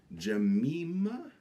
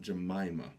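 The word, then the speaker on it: Jemima: Oh, by the way, my name is pronounced Jamima, not Jamaima.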